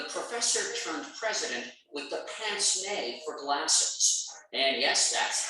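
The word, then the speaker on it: pince-nez: aloof intellectual the professor turned president with the pants nay for glasses and yes that's how it's pronounced wilson was no cold fish wilson was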